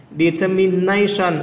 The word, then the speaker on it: determination: Determination âm số mấy? Âm số 4.